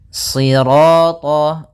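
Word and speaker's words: صراط: Kemudian pada lafal sirat ya kembali lagi di sini shadnya tebal jangan dibaca dengan huruf sin. Ya, meskipun nanti ada yang mereka ada ee riwayat lain membaca dengan sinin, tapi kita membacanya dalam riwayat Imam Hafaz dengan shad ya si tebalkan shinya sirat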